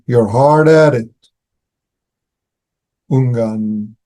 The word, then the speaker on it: Ungan: That's how you pronounce their names in um Sino in No, that's in Chinese. And in SinoJapanese they pronounce the name Unan and Dogo.